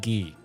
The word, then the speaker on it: Guy: So, do you guys think Guy's name is pronounced guy or like the French pronunciation? Gee, guy makes me giggle. Yeah, guy is. Yeah. So, I'm saying look at that guy. I'm saying guy.